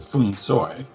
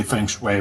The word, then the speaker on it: Feng Shui: them say those words, they say something closer to Feng Shui, but no one here says that, and so you can't be understood while saying it. So I used to just do it phonetically and say Feng Shui, but now I say Feng Shui, which is what people say in North America.